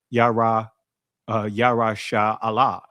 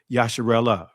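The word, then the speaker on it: Yasharahla: And we see Israel, which is Yah yasha Allah, right? And I'm saying it that way, family, because um many will contract this and and say Yasharella, right? That's that's that's that's not the proper pronunciation because now it kind of adds a a a different sound to it.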